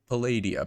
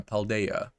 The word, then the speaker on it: Paldea: and some of the uh special Pokemon in Palladia paldea sorry I I'm still getting used to the pronunciation oh I think I have spotted it